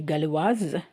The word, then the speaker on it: galloise: Tu es galloise? So in the first one, we don't pronounce the S. In the second one, we are pronouncing the S.